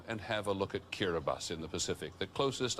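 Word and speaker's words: Kiribati: says kirati on your screen but it's actually pronounced kirbas these are actually the Gilbert islands in the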